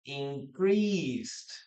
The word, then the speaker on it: increased: For example, in the previous one, increased. We don't pronounce the letter E here.